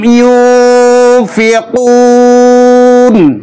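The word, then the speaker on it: ينفقون: এখানে লক্ষ্য করুন, ইউনফিকুন নুন সাকিনের পরে ফা এসেছে। নুন সাকিনের পরে যদি ফা আসে তাহলে ইখফা হয়।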